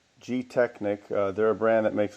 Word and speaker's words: Gtechniq: So anyway, the product is called Gtechniq.